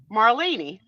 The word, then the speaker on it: Marlene: Now, do you want to know how I knew how to say it? I got to thank my friends at Bravo, because one of the Real Housewives of New Jersey, See, had a housekeeper named Marlene.